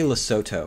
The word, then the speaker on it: Lesotho: in hell you say lesoto I think I don't think the H is pronounced no chance in hell